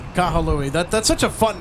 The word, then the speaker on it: Kahului: I mean, that's just Kahului. That's how viewers are saying. That's how M says Kahului. Kahalui.